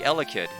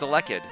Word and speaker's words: Elekid: I keep thinking it's supposed to be Elekid, and it's not. It's Elekid.